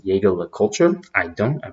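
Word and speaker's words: Jaeger-LeCoultre: For those of you out there, some people pronounce it Jaeger LeCoultre. I don't. I pronounce it Jaeger LeCoultre.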